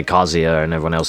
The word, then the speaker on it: Kazuya: Same as with Tekken, where I say Kazuya and everyone else says Kazuya. Oh, I fucking hate how that sounds. Kazuya is the right way to say it.